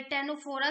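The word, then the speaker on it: Ctenophora: तो जो comb jellies होती हैं वो फाइलम टेनोफेरा से टेनोफोरा से बिलोंग करती हैं। यहाँ पे सी साइलेंट है।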